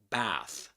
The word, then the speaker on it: bath: And um also also in American English, you usually find words such as uh pronounced with a a sound such as for example bath.